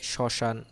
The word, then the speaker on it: শ্মশান: শব্দের শুরুতে যখন ম ফলা থাকবে সেটা হচ্ছে এটা কি শব্দের শুরুতে যদি ম ফলা থাকে সেটার উচ্চারণ কিসের মতো হবে, অ এর মতো হবে। যেমন এই যে শ্মশান, তারপর স্মরণ ইত্যাদি।